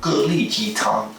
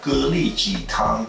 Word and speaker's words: 蛤蜊鸡汤: We're going to get into the soup called Gélí jītāng. So yeah, that's right, I said it right. Gélí jītāng.